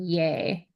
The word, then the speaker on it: Ye: He does pronounce it as in yay.